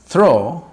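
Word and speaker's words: through: Scrolling थ्रो, और इसका pronunciation तो थ्रा है, थ्रा, लेकिन मैं यहाँ पे इसको थ्रो पढ़ूंगा आप ताकि समझ जाएं इसको।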